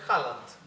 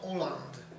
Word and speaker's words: Haaland: Jak Haaland. Tak coś czułem. Chociaż Norwegowie twierdzą, że poprawna wymowa tego nazwiska to Oland. Oland. No i podobno tak zaczęto gdzieś tam nawet już mówić.